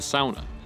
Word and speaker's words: sauna: And that is with hot, or in this case, the sauna, or as it should be pronounced, the sauna.